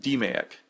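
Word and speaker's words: DMAIC: forms of problem solving the mayic is the acronym used for Six Sigma you may also hear this pronounced da ik 8 D or a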